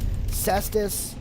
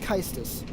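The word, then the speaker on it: Caestus: Kystis, or Cestus. I believe it's pronounced Kystis.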